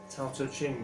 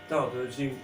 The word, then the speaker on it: Tao Te Ching: If you know a book called the Tao Te Ching, okay, Tao Te Ching, sometimes pronounced the Tao Te Ching by Lao Tzu, but it's Tao Te Ching by Lao Tzu, okay,